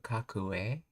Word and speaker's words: かっこええ: かっこええやないか。かっこええ I've heard of kakui, but kakue? It's just a pronunciation difference of kakui.